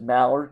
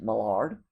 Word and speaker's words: Mallard: have the French pronunciation, just as Mallard can also be pronounced Mallard.